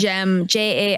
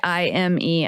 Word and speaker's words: Jaime: Oh, but Jaime is spelled like not how we instinctively want to. It's like Gem, Jaime.